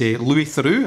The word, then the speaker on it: Louis Theroux: One of the things, or one of the people who I love is Louis Theroux. I think I'm pronouncing his name right, Louis Theroux.